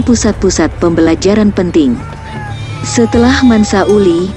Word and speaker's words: Uli: kekaisaran malu lahir mansa Uli menggantikan ayahnya sundiata kata mansa dalam bahasa maningka berarti Raja Uli adalah pengucapan lokal dari Ali Uli memperluas perbatasan Mali